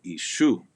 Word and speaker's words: ishu: And ishu, that S, every time this letter S follows an E sound, it sounds more like an SH quality.